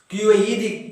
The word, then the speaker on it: quiet: Quiet, quiet, quiet. Two syllables are in that word.